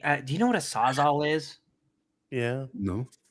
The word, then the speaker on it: Sawzall: But they always pronounce sawzall. They say sawzaw.